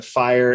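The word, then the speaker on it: FHIR: oo auth + a fire based API the fire is a health care data format and it's spelled F I H R is that correct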